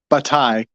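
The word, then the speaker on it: Bataille: they uh B batai I'm saying his name it's all Frenchy but this guy batai there's a silent l in there um he has uh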